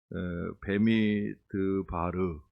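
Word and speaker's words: במדבר: 이제 저는 미드바 읽었는데 그 르 르라고 하는 발음이 하나 더 들어가죠 베르 베미드바르 베미드바르 이렇게 아까 나왔던 거 같아요 베미드바르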